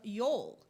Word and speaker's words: Jól: in the festival of Yule, spelled J-O-L, with the J pronounced as a Y. And that explains Brynja's name with J-A sounding like yeah. Jól is the word for Christmas in Iceland.